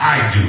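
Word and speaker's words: ἰδού: thank you holy ghost in the Greek uh it's pronounced I do everybody say I do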